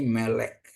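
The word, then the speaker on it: מֶלֶךְ: sudah kita pelajarin bahwa akhiran kap sopit dengan tanda spa, di mana vowel spa juga tidak dibunyikan ya. Ini ya, ada spa ini. Jadi ini tidak dibunyikan ya. Jadi bacanya jadi melek ya, melek.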